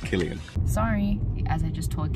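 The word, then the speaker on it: Cillian: Murphy went vegan and it's pronounced Killian sorry as I just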